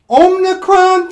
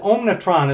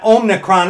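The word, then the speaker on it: omicron: people out there today with this this ridiculous omnicron thing now man when i first heard about that omnicron thing i i mispronounced it omnitron it's like what they gotta transfer their name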